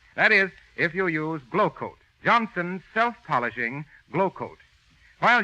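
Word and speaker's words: Glo-Coat: rubbing or buffing that is if you use glow coat Johnson's self-polishing glow coat while you sit back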